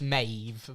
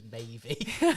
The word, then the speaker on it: Maeve: it's Maeve. But, Oh, okay. But don't worry, because if I would have also thought it was Mavey.